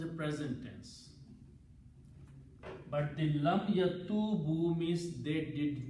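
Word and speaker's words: لم يتوبوا: It has to be pronounced together, lam yatubu, to bring the meaning of negative and the past tense.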